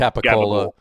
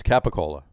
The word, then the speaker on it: capicola: It's pronounced capicola. It's capicola.